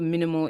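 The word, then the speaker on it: MNML: Um I've used this web tool it's called Minimal AI, but it's spelled m n m l.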